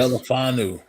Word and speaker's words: Melifonwu: Melifonwu.